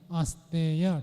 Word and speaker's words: अस्तेय: सिद्धार्थ जी बताओ अस्त नहीं अस्तेय ठीक से उच्चारण करो अस्तेय आगे नहीं हां दक्ष